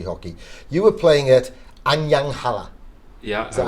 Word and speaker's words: Anyang Halla: You were playing at Anyang Halla.